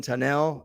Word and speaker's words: Tunnell: Some people call him Emlyn Tunnell. I believe the proper pronunciation is Tunnel.